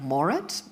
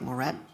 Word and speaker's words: Moret: Then in the middle, we have Blake Moret. He's chairman and CEO of Rockwell Automation. And I just realized I mispronounced your last name. It's Blake Moret.